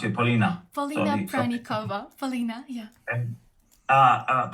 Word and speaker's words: Polina: little bit of backgrounds prianka sorry I I mispronounced you Paulina Paulina pra Paulina yeah uh but my studies